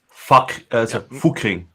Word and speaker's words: Fucking: It is pronounced fucking. It's short U.